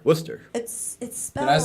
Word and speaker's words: Worcester: am I saying it right Worcester for sure Worcester right yeah so you gotta move to Boston